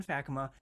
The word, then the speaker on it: Fakkema: faka and he is the did I pronounce it right yeah you did faka the superintendent of Ontario Christian schools in beautiful